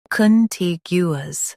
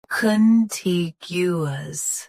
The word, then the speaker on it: contiguous: Today, we will learn how to pronounce the word shown on the screen. Contiguous. Both US and UK have the same pronunciation of this word. Stress T. Keep gu smooth, not gu. Contiguous. Contiguous.